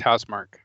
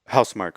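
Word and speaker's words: Housemarque: I think it's pronounced Housemark. Housemark, okay.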